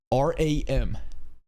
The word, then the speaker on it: Ram: These are three distinct vowels. Ram? Rem? Rom? Right? Right? A E O. I don't want and you can pronounce it however you you want, but don't tell me this is how you pronounce R A M. If you want to go Japanese route, Ramu, sure. It's still an A. It's not an O.